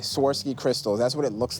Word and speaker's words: Swarovski: work on my pronunciation swarovsky yeah so there's no tea right right Swarovski Crystals that's what it